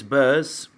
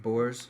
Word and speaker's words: Boers: Chris Burrs. Is that how you say it? Chris Burrs? Boers. Boers. Boers. Boers. Boers. Yeah, Boers.